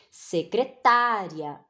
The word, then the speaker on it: secretária: ela é chamada de secretária viram que a pronúncia mudou por que que a pronúncia mudou porque a sílaba é é porque a sílaba tônica né ela muda lá então nós temos aqui